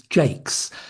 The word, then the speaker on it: Jacques: On my father's side, my grandmother's maiden name was Jakes, and this was an anglicisation of the French name Jacques. And although she pronounced it the English way, she still spelt it the French way.